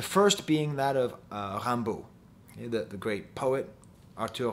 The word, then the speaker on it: Rimbaud: french culture the first being that of uh rambu the the great poet arturo rambo spelled rimbaud okay r-i-n-b-a-u-d pronounced rambo who once said which is a way of